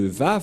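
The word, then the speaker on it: ו: J'espère que vous voyez bien maintenant que la prononciation de Vav, c'est V. Voilà le Vav. Le phonème de ceci, lorsque on prononce avec votre bouche et votre langue, c'est V d'après Wikipédia. C'est-à-dire, personne ne peut contester le Vav, c'est bien un V, la bonne prononciation.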